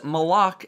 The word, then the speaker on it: Malok: Chalice strike which features malok as the final boss and yes that is the pronunciation the strike appears to